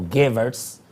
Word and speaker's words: Goebbels: Hay otra frase que la voy a decir textualmente, que es autoría que es similar a esta, de Joseph Goebbels, o Goebbels, pronunciado en inglés.